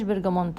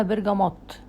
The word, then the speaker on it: برجموت: هي ما اسمهاش برجمونت، اكتشفت ان اسمها برجموت. هي بتتنطق كده، هي بتتكتب برجمونت بس هي بتتنطق برجموت.